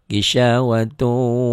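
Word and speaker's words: غشاوة: Yang belum biasa bingung juga, gisawatun bisa-bisa dibacanya idhar, padahal itu idgham bigunnah. Wa ala absarihim ghishawatu wa lahum adzabun azim.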